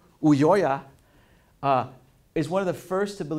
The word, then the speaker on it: Ulloa: Ulloa is one of the first to believe to